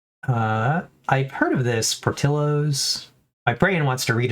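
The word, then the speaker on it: Portillo's: supposed to pronounce it, the double L in the Spanish Y or is it's it's just portillos, right? It's not portios, which is again what my brain wants to do every time I see that.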